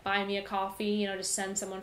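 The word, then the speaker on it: Ko-fi: And I know there's a lot of other things, like there's coffee spelled with a K-O, and I think it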